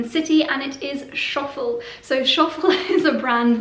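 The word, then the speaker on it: Schöffel: Even when you say it, you have to do something posh with your mouth. Schoffel, Schoffel.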